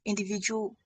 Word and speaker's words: individuality: Individuality all all should be stressed. Okay. So this word is having ultimately six syllables individuality.